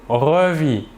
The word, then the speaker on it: revit: Je revis, tu revis, il ou elle ou on revit. Toujours la même chose, le S et le T final de la terminaison ne se prononcent pas mais s'écrivent.